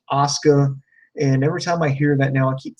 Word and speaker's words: Asuka: do apologize for mispronouncing her name I was pronouncing it Asuka but you know it I'm wrong it's actually pronounced Asuka and every time I hear that now I